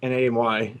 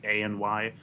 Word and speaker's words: AnY: Like Tom and AMY said. Is that how you say it? I feel bad. Yeah, and it's a capital Y, so it's ANY.